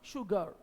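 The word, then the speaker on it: sugar: लिखते तो हैं दंती स की तरह स, लेकिन उच्चारित करते समय उच्चारण निकलता है श, शुगर।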